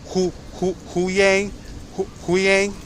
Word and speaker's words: Hu Yang: Hu Yang, yeah, there you go.